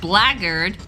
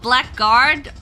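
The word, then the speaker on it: blackguard: Is it blard? You blard. Is that how you pronounce that? Not black guard.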